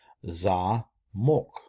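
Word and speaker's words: замок: Zamok, ZAMOK, zamok. Again, you have the accent on the O, therefore it is pronounced O.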